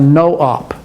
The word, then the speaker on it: nop: we need is a no op nop this is a common instruction it's always spelled this way nop and it's pronounced no op a no op is